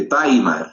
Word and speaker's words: Weimar: es la constitución de baimar se escribe weimar se lee bimar es en alemán no la Entonces qué